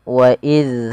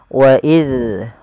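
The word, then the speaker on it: إِذْ: Agar sempurna daripada makhraj dan sifat huruf zal, yaitu ujung lidah kita tempelkan dengan gigi seri atas yang dua di depan itu yang seperti kelinci, kita tempelkan wa iz, wa iz. Kemudian lafal faraqna adalah lafal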